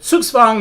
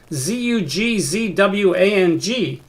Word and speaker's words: Zugzwang: as i've been taught the z in this particular circumstance that comes from the german is pronounced like sort of like an english ts ts that w is